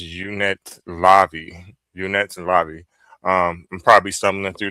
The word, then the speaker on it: Unetlanvhi: Okay, so it's pronounced the unetlanvhi.